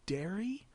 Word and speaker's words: Dairy: And we also have from clan Dairy. It's spelled like fairy, but it's got a D at the start, so I go with dairy on that one.